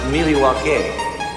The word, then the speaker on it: Milwaukee: Do you come to Milwaukee often? Actually, it's pronounced Mil-e-wah-kay, which is Algonquin for "the good land".